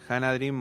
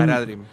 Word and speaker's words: Haradrim: Los elfos, si por ejemplo, para pronunciarlos bien, Hanadrim o... Los Haradrim son, Haradrim, sí.